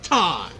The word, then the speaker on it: thyme: Mime. It's like my favorite kind of spice is thyme. I forgot that was a spice. Yeah, it's spelled like T-H-Y-M-E. M-E. Thyme.